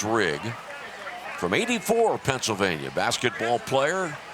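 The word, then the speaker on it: Rieg: JR's last name, R-I-E-G, pronounced Rigg.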